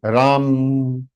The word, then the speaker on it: राम: So this is not Rama, it is Ram. Rama बोलते हैं हम. That is wrong. English people, they spell it as Rama, Arjuna.